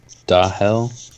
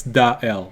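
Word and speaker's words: Daël: right did you say da hell d a e with two dots on it which means that you're supposed to pronounce the e and the l separately so the l ah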